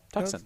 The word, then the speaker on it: Tucson: pronounced Phoenix. and Tucson. Is it not Tucson? Tucson.